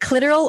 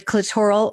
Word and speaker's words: clitoral: The clitoral or the clitoral orgasm, depending on how you say it and where you're from.